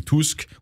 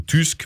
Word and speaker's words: Tusk: le prononcez bien voilà il faut pas dire Tusk ça c'est la prononciation disons angloaxonne qui correspond pas à la prononciation polonaise on dit Tousque ouou tusque mais pas Tusk donc ça c'est le